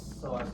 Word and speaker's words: psoas: P is silent. Iliopsoas. Iliacus, psoas major, iliopsoas.